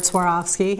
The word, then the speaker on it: Swarovski: lot of people have trouble saying the word Swarovski I always like to think of it as that I swore off skiing so swore off ski and that's a good way to remember is how to say the word yes Y and and